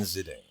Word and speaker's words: Zidane: I've always gone Zidane. The soft eye, Zidane.